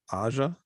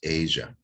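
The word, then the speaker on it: Aja: both bands later on Aza by Steely Dan turned me on to their catalog wow that's very cool well I think it's pronounced Asia but it's what I always heard we actually did a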